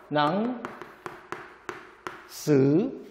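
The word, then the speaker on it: หนังสือ: 어려운 말로 뭐라고 하냐면 선도자음. 선도자음은 또 뭐냐면요. 스스로는 이 자체는 스스로는 발음이 되지 않습니다. 근데 중요한 건 뭐냐면 뒤에 오는 녀석을 뭐로 만든다? 고자음으로 만듭니다. 그렇기 때문에 발음이 사성이 되죠. 낭, 스, 책은 뜻은 책.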